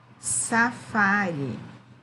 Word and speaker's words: safari: safari. Qual é a sílaba tônica? O Fá.